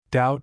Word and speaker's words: doubt: Thursday we have a number of words containing a silent b. Notice the spelling of the following words. Doubt debt dumb limb thumb lamb. Friday.